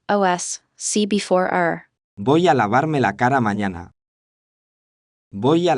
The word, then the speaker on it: lavarme: The R in Lavarme. is a strong, trilled R.